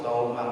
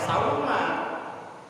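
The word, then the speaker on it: صوماً: Nawaitu sauma godin. Sauma pakai sod. Sauma, jangan pakai sa, jangan sauma. Karena beda arti. Kalau sauma itu artinya puasa. Kalau salah baca, bacanya sauma pakai sa, itu artinya bawang putih.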